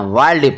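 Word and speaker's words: wild: हैं exception word तो exception इसमें कौन सी है वो भी मैंने आपको बता दिया डब् आई एल डी वाइल्ड इसको वाइड नहीं पना वाइल्ड पना है एम आई एल डी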